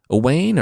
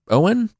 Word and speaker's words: Yvain: That's Welsh, right? Shouldn't that be pronounced Owain or Owen? Shouldn't that be pronounced like Owen? And then he held his nose.